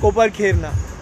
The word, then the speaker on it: Kopar Khairane: जैसा कि एरोली, घनसोली, रबाले एंड अब नेक्स्ट कोपर खेरना। तो मैं हूं मौजूद कोपर खेरने के अंदर, कोपर खेरने, कोपर खेराने, कोपर खेरने, जैसा चाहे प्रोनाउंस कर सकते हैं, तीनों ही तरीके से बोला जाता है।